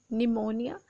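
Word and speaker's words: pneumonia: Then निमोनिया, निमोनिया में P silent होता है, ये बाय मिस्टेक नहीं लिखा गया, बल्कि निमोनिया को जब भी लिखा जाता है पी के साथ लिखा जाता है, बट you will not pronounce that P.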